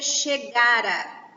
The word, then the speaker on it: chegara: Então a gente pronuncia chegara. Chegara, a força da sílaba está aqui, ó, chegara, tá?